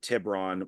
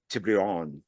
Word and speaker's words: Tiburon: There's also, I think he even brings up Tiburon, which we pronounce incorrectly too, because Tiburon means like shark fin. So it's like Tiburon or something like that. So even though all of